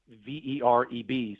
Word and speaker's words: Vereb: So the first thing to know is the governor and this person, and it is spelled V-E-R-E-B, so it looks like verb, but you pronounce it like verb, like noun and verb.